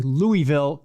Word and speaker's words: Louisville: There are thousands of century-plus old buildings in, I'm going to say Louisville, because it is Louisville. Louisville. It's not Louisville. Louisville. It's only syllable.